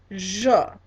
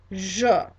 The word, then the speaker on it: je: So let's go through and I want you guys to pronounce after me on the singular side. All right, to say I, it's je, je.